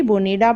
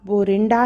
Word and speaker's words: Borinda: Pronunciation कोई different करता है, कोई बोरिंडा बोलता है, कोई बोनिडा बोलता है। एक्चुअल प्रोनाउंसिएशन इसका बोरिंडा है।